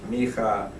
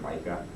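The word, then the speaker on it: מיכה: um and Zakaria um I use Hebrew pronunciations for their names so they might not quite sound zakar you've probably heard Zachariah um me you've probably heard Micah um so um so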